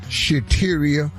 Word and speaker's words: Shateria: in the wrong relationship shateria that rhymes with cafeteria and yes where we